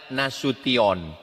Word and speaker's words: Nasution: Cara membacanya Nasution.